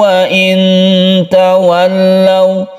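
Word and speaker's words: وَإِنْ تَوَلَّوْا: Wa in tawallaw fa innama, wa in tawallaw, nun mati bertemu dengan ta kita sebut dengan ikhfa hakiki. Ikhfa hakiki itu hurufnya ada 15. Salah satunya adalah ta.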